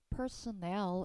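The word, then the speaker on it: personnel: 자, 인사라는 뜻도 있고 집합명사로 직원들을 뜻하기도 하는 단어 personal이었고 어 발음하실 때 personel 이렇게 읽으셔야 됩니다. 일단 personal 이렇게 읽으면 개인적인 뜻이 완전 달라지니까 personal 되고 유사오의가 있다면은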